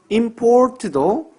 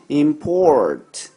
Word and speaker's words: import: 강세에 대해서 하나 말씀을 드리면 우리가 강세를 할 때 그 강세가 있는 부분을 강하게 읽는 게 아니에요. import 이렇게 읽는 게 아닙니다. 강세가 있는 부분을 이음절로 읽어야 돼요.